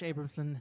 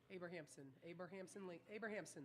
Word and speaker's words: Abrahamson: with questions for Coach Abramson Henderson. I got to get you to say my name right first. So say it. Ready? Abrahamson, like Abraham Lincoln.